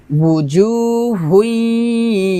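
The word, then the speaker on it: وُجُوهٌ: তারপর wujuhun, ওয়াও পেশ উ দুই ঠোঁট গোল করে ওয়াও পেশ টা উচ্চারণ করতে হবে, উজু বলা যাবে না, উজু হবে না, হবে উজু এভাবে, হুই গুণ হবে, wujuhun yawma idhin musfirah, wujuhun yawma idhin musfirah।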